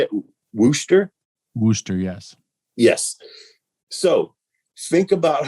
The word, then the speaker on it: Worcester: Worcester, yes.